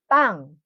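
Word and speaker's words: 빵: So it is from this letter, sangbiup. You pronounce it strong but not aspirated.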